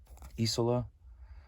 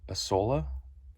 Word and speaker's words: Isola: Isola. I thought it was Isola, but then I heard a Carl Kerschel interview, and he pronounces it Isola.